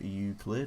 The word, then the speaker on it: Euclid: let's review all the tracks from Chokehold to Euclid I think that's how you pronounce it we're going to start off with